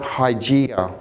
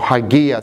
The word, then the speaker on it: Hygieia: So those 5 angles were ascribed 5 letters of the Greek, and it's spelt Hygieia. or Hygieia.